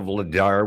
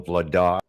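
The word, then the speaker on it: Vladař: Like for example, Daniel Vladar was always known as Daniel Vladar, but it's actually Daniel Vladar.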